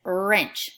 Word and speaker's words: wrench: sound what inch in it doesn't say will wrench it just says wrench so therefore the W and the arm both work together to make that sure now I would like